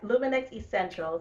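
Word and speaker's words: Lumynex Essentials: this for you, and Kerone, make sure I'm pronouncing this correctly, Luminex Essentials. Am I close? Yes, Luminex Essentials.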